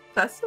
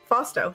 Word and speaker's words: Fausto: Can you say his name? Fasto? Yeah, he said Jack Show. No, Fausto.